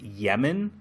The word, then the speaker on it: Lemon: but a Japanese pronunciation this character they pronounce it Yemen but it's spelled l m o n like lemon so I'm going to pronounce it Yemen because that's how they pronounce it in the show I